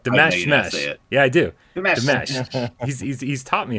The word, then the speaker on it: Dimash: Dimash. He's taught me how to say it, but my brain just doesn't like one. It was the Monster Mash. They did the mash. That's it, right?